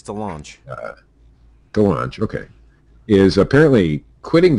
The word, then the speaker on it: DeLonge: pronounce this last name Tom Delong or delange of blink we're gonna get a lot of hate on this if I pronounce this wrong sure a lot of Blink 182 fans out there it's Delong thean okay is apparently